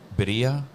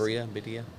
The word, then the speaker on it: birria: been pronouncing it wrong, is it Bedia? But yeah, I guess that's how you would say it in Spanish. Yeah, man. He's The like white person Authentic. way is Birria.